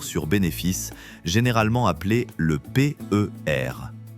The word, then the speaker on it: PER: Aujourd'hui, nous allons étudier l'un des plus connus, le ratio court sur bénéfices, généralement appelé le PR. En français, cet acronyme se prononce comme le mot paire.